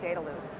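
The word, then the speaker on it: Dedalus: loose and the reason the easy way to remember it is that we set your data loose we are also one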